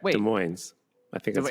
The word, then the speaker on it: Des Moines: That's how it's pronounced, right? Wait. Des Moines.